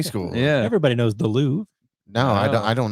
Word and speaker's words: Louvre: yeah the loo the louvre the re is kind of silent the re is silent